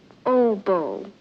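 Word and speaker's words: oboe: plays Everything clarette saxs I believe that's pronounced OBO OBO he plays it what does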